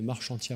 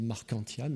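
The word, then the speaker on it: Marchantia: plante modèle qui s'appelle marc chantier à polymorphe a été découverte par monsieur marchand la plupart des anglophones disent marquant thiam et on devrait le prononcé à la française est en fait pour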